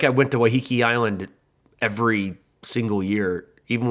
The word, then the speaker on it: Waiheke: It's Waiheke.